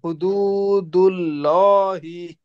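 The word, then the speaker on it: حُدُودُ اللَّهِ: দু, দুল্লাহি, পড়েন, হুদুদুল্লাহি, পড়েন 5 বার পড়েন।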